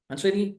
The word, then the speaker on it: Mancini: you perfectly pronounce my name that many people pronounce in a different way but it's a manini